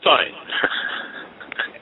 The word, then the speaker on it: Stein: Bill Steen or Bill Stein? Bill Stein. It's been pronounced every which way.